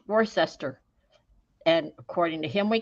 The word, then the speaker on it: Worcester: can't certainly announce it Worcester it's not Worcester it's Worcester do not ask me what I don't know but it just is well and he said